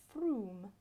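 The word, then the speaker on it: Frome: a dangly thing now this one is spelt from but from my time in the area i know it to be froome yeah i don't know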